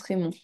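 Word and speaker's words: Raymond: Raymon, ça se prononce Raymon.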